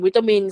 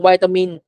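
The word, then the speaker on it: vitamin: 2 แบบ นะ คะ คล้าย ๆ วิตามิน อเมริกัน ออก เสียง วิตามิน คน อังกฤษ ออก เสียง ไวตามิน ก็ ได้ เหมือน กัน นะ ฮะ อ่ะ ที นี้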